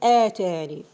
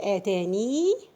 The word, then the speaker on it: آتاني: We have a special case actually for the word آتاني.